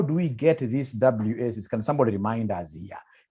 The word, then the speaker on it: WACC: How do we get this WACC? Can somebody remind us here? There is somebody who pronounced this as Wakaka.